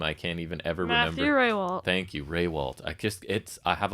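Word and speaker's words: Matthew Rehwoldt: It's not pronounced like it's spelled, so then I start doubting myself, and then I just forget what it is altogether.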